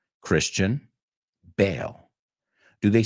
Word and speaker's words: Bale: Because if we know how to pronounce his name, then we know how to pronounce the second word. Gareth Bale. Christian Bale.